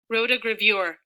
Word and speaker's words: rotogravure: Rotogravure.